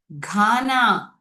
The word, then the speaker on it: Ghana: Ghana. Wow, again GH is making hard G sound.